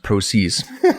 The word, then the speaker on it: prose: First of all, it's pronounced prose.